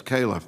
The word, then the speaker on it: Califf: thank you very much uh thank you dr kaufman being here today it's calif by the way caleb kayla mine getting my